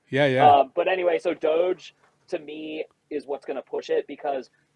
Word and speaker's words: DOGE: Yeah, is it Doge, like Yeah, Dogecoin?